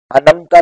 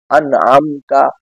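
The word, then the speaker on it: أنعمت: صراط الذین انعمت علیہم، انمتا نہیں ہے، انعمتا، انمتا میں اور عین بھی موجود ہے، لہذا انمتا کہنا درست نہیں ہے، انعمتا، صراط الذین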